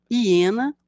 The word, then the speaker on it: hiena: carnívoro com mandíbulas Poderosas hiena começa com H mas lemos um som da vogal ir no